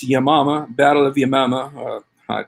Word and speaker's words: Yamama: a hard time saying yeah mama because it sounds like yo mama but it's yamama battle of yamama uh